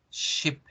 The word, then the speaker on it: ship: Sin sonreír, no decimos chip, chip, porque fíjense cómo el hecho de mover la boca y generar esa sonrisa hace que el sonido sea diferente. Escúchenlo, pronunciándolo tal cual lo pronunciaríamos en español. Chip, chip, chip. Escúchenlo como se debe pronunciar en inglés. Ship, ship, ship. Baja el tono de la voz, se engruesa un poco más la voz.